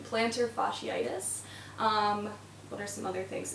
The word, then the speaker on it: plantar fasciitis: If you suffer from plantar fasciitis, that was a little bit of a funky pronunciation, plantar fasciitis.